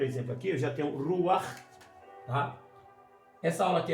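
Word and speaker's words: רוּחַ: E é pronunciado, então, juntamente com a consoante vogal, gutural, no fundo da garganta. Ruar, ruar. O patá, ele é pronunciado junto com a consoante e essa gutural no final. Ruar, ruar.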